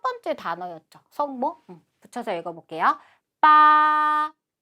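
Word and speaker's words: 八: 빠, 빠. 읽어주시면 되고 숫자는 뭐 8, 8자 별로 어렵진 않으니까 간체자하고 같이 발음을 외워주시면 돼요.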